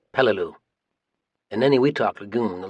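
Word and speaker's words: Peleliu: spelled P L E L I U and pronounced Pelu.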